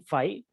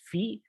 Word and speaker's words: phi: Finally, we have to define phi. Okay, I mean the Greek pronunciation is phi, though I sometimes lapse into phi.